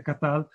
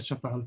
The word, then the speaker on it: Çatalhöyük: in un convegno che non si dice Katal, ma in turco si dice Çatal, quindi io relaterei, però credo di aver centrato la cosa.